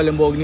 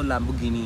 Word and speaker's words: Lamborghini: लैम्बोर्गिनी ये मैं जल्दी बाज में थोड़ा हाँ, और इटालियन में अगर प्रोनाउंस करें तो लैम्बोर्गिनी है वो।